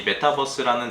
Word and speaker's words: 메타버스: 그러니까 우리가 BUS라고 하는 버스하고는 이제 좀 전혀 다른 그 발음인 거죠. 그래서 밑에 보시면 이 메타버스라는 단어는 가상, 초월 등을 뜻하는 이제 영어 단어 메타하고 우주를 뜻하는 유니버스의 이제 합성어라고 합니다.